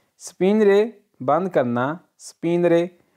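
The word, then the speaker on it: spegnere: Number 3 स्पिनरे बंद करना, स्पिनरे, ये जी है, ये साइलेंट है, ठीक है, स्पिनरे बंद करना।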